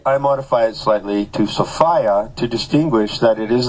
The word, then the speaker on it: Sophia: means referring to Sofia I pronounced the word Sofia to distinguish it from the common use of the name sopia which is very commonly uh found as a girl's name Did You Know by